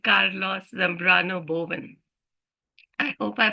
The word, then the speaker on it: Carlos Zambrano Boven: a wonderful person who I met recently called Carlos Zambrano Boven I hope I pronounced your name correctly Carlos yes you did